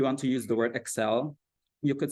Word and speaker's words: Excel: adopted a dog so lastly Exel versus Exel so maybe because in Indonesian we we like to say Microsoft Exel for example but it's actually pronounced as excel in English whereas Axel means it's